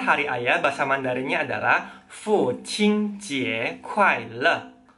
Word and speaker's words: 父亲节快乐: Jadi, selamat hari ayah bahasa Mandarinnya adalah Fu Qing Jie Kuai Le. Fu Qing Jie Kuai Le. Coba diulang. Fu Qing Jie Kuai Le. Kalau kalian pelafalan dan nadanya sudah tepat, coba ngomong lebih cepat.